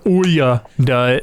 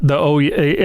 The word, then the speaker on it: Ouya: I think it was actually called the Ouya. But I thought it was the Ouya. No, I think how it was supposed to be pronounced was the Ouya is what I meant.